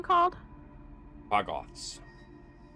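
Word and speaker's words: Quaggoth: things we fought again call Bots can you spell that q a g g o t h like quag and Goth put together sick um can I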